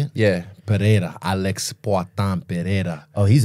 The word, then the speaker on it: Pereira: cold once shout out to Pereira um yeah perea is that how you say it yeah perea Alex pan Pera oh he's a he's he's